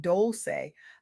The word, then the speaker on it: Dolce: I'm Dolce, pronounced doulce like sweet softness whispered in French.